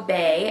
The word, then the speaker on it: Bae: This is Bae, and Bae is spelled B-A-E.